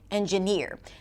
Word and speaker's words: engineer: For example, in the word attitude, the primary stress is on a in the word engineer the primary stress is on the final syllable engineer.